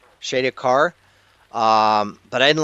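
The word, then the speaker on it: Shadar-kai: Shadowakar. Am I pronouncing that right, Brandon? Shaki car. Shadak car.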